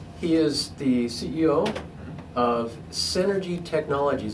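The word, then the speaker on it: Senergy: He is the CEO of Synergy Technologies. That's spelled S-E-N-E-R-G-Y, like energy, with the S in front of it.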